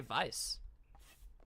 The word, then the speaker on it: Weiss: How do you say Weiss's name like that? You just say Vice.